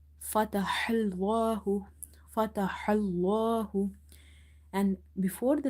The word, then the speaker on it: فتح الله: Now this ha is from the middle of the throat because this is from the halkiya letters, and in order to pronounce it you have to open your mouth wide and try to exhale the air out. Fatahallahu, fatahallahu.